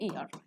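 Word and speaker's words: heir: उत्तराधिकारी, उसे बोलते हैं ईयर, ईयर, इसमें भी एच हमारा साइलेंट होता है, ईयर, ओके।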